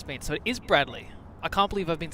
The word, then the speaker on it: Bradley: Tom Brady the satellite is that Brady It's Bradley it's a Bradley Tom Brady's a football